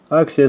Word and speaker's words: Axia: Хороший пластик, фирменные стоперы Fuji Axia на тот момент. Вот так она правильно читается здесь.